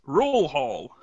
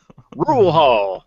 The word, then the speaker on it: Rural Hall: a place spelled Rural Hall but obviously not pronounced that way because of course it's in kakalaki welcome back to you sir it's rule Hall rule Hall rule Hall man what a dumpster fire that intro was